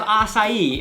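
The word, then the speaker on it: açaí: Good thing they have acai in Brazil. That's actually how you say it.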